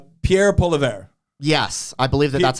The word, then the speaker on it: Pierre Poilievre: Pierre Poilievre. Yes, I believe that's how it's pronounced.